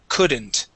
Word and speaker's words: couldn't: would and should okay here you would said c using more of an oo sound we want to use an uh sound so the word is C couldn't C couldn't could good